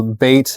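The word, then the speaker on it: bayt: is great and so bait is the name of the restaurant and it comes from the Arabic word for home for home it's pron it's spelled b a y see some baits and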